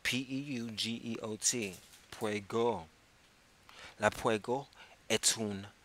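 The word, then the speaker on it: Peugeot: go and I and I might be pronouncing the name of that brand of car wrong but it doesn't matter I spelled PE you geot I know that I have the second syllable correct well at least the last part of the second the T would be silent but it's spelled PE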